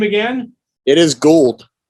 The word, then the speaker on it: Gould: There's a happy medium of Gould and gold, and you just try to slam them together, and then you get his name right.